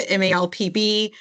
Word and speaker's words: MALPB: And I think everyone has a different view on how to say the name. And so it's a mouthful. At our department, we call it the MALPB.